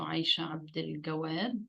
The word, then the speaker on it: Aisha Abdel Gawad: I am talking to Aisha Abdel Gawad, the way it is pronounced in Egyptian dialect, and she is the author of a novel called Between Two Moons.